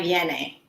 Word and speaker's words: Viene: Did I pronounce Viene, it? yes. Viene.